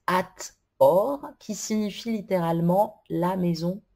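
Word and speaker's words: Hathor: et re génératrice d'ailleurs son nom se prononce at or qui signifie littéralement la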